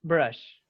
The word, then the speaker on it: brush: Tienen que decirlo la SH, tienen que decirla bien SH.